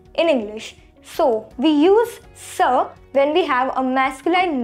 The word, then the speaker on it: ce: which means this in english so we use sir when we have a masculine noun and when